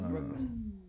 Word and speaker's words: Brooklyn: So Brooklyn is a Dutch word. Mm. And it's really Breuklyn. So it is Brooklyn. Spell it Brook.